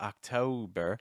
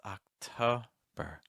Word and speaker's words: October: then you're going to an o sound it's not o it's not October it's October so you don't have to round your lips to tense at the end you can actually use straight lips if you want it oh October November November